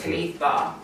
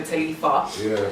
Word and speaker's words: Taliifah: But yeah, the original spelling is actually TELETHA. Okay. Right? Yeah, so it's Taliifah. Yeah. However, grown up in Hackney with broken English people. Nobody pronounces their THs, so it always got like turned to Taliifah.